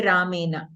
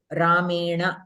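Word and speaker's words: रामेण: We don't say Ramena. Ramena, we say. There, the Nakara is changed into Ana.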